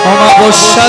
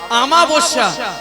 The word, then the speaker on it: অমাবস্যা: কি তিথি মায়েরা শুনে নাও ওগো আজে আমার অমাবস্যা তিথি ওই চিরকালে আছি কোন তিথিতে গালি পূজা হয়? আস্তে কোন তিথিতে গালি পূজা হয়? আমাবস্যা লেখা থাকে ওটা ওটা লেখা থাকে কি?